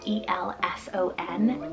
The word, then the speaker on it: Elson: For the boy side, we have Elson, spelled E-L-S-O-N, Elson.